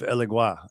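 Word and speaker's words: Elegguá: closeness it's like semi-non-dual they have elegua elegua at least that's how I was taught to say his name YouTube and like wow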